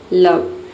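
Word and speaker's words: love: लव में ओ के बाद जो है वी ई आया है, लेकिन यहाँ पे ओ को ओ नहीं पढ़ते हैं, यहाँ पे ओ को जो है अ पढ़ते हैं, तभी इसका प्रोनाउंसिएशन होता है लव।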